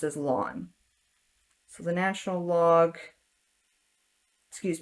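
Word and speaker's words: ln: to put here um pronounce it as like your lawn in your front yard and whenever you see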